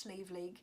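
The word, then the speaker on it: Sliabh Liag: It's written in the Irish, but it's pronounced Sleeve League. And Sleeve League is in the area.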